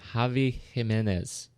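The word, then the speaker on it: Xavi Giménez: cinematographer uh Javi himz jav Jimenez see that's confusing because it's an X for jav and a g for Jimenez and no J's anywhere in there now I know I'm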